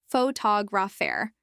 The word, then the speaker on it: photographer: pH to graph but in photographer the stress shifts to the second syllable photographer misplacing stress can make